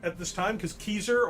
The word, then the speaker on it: Caesar: at this time because keyser or kaiser as it would actually be pronounced in ancient latin um i don't agree